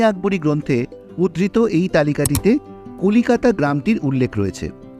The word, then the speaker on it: কলকাতা: 1590 সালে রচিত আবুল ফাজলের আইনি আকবরী গ্রন্থে উদ্ধৃত এই তালিকাটিতে কলিকাতা গ্রামটির উল্লেখ রয়েছে। অনেক গবেষকের মতে আবুল ফজলের লেখা কথাটার উচ্চারণটা কলকাতা নয় কোলেকাটা। আবার কলিকাটাও হতে পারে।